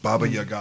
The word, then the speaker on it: Baba Yaga: the boogeyman i'm sorry what sorry says it baba yaga that's how you pronounce it in the movie bubba yeager i don't think it's supposed to be bobby